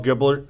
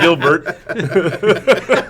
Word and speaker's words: Gilbert: These guys, Steve and I just saw Paul Giblert a couple of weeks ago, and I thought it was going to be one of those. I butchered his name. I didn't say Giblert instead of Gilbert.